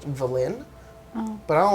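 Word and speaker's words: Vellynne: v at the beginning so technically the book says uh her name is pronounced villain but i don't like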